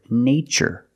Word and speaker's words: nature: the spelling pattern t-u-r-e in this spelling pattern T is pronounced with the CH sound like chicken so we see the word nature and the other word